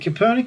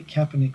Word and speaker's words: Kaepernick: league over there and copernic is known really kaepernick rather sorry i'll pronounce his name correct me kaepernick is known